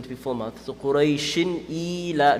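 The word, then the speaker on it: قريش: Ra mutaharrik, the rules of ra mutaharrik is if it has a fatha or dhamma on top, it's going to be full mouth. Kasra is going to be empty mouth. So you can't say Quraysh. It's not Quraysh. It's Quraysh. You see what I'm doing there? Quraysh, not Quraysh.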